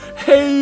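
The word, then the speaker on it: 黑: Hey you. As you can probably tell, hey is pronounced hey. Uh hey is the Chinese for black.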